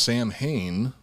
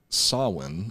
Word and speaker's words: Samhain: it should be pronounced samhain which i have heard a lot of people pronounce it that way including myself sami hayne it's actually pronounced sawin or something along those lines uh gigi i'm i'm